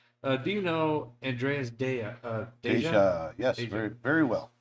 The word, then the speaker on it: Deja: it's Deja, yeah. Deja. Deja. I think Sometimes the J is silent, isn't it? yeah. Sometimes. But he's German, so it's not sure how it works.